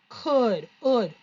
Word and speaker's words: could: IGH, I could, like the hood of your car.